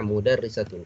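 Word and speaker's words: مُدَرِّسَةٌ: madrasah atau mudarrisah modernisator Nah mudarrisatun kita baca mudarrisatun karena apa Karena harokatnya itu di bawah SD ini dibacanya ih ini merupakan kasrah mudarrisatun dari Kak pil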